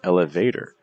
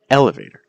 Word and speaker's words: elevator: If you would say these as elevator or calculator or appetizer, that's not necessarily the most natural pronunciation for these compared to elevator. See the stress on L, elevator, or calculator. See the stress on calculator, or appetizer, appetizer. So you don't want to